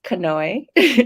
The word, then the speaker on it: Kanoe: skin in a better healthier place and it's pronounced kanoe which i know is difficult if you're not